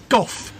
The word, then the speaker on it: van Gogh: the van Gogh yeah golf you remember how to say it he got a bad cough absorb sounds like cough not like girl go no no not go golf like cough it's easy to remember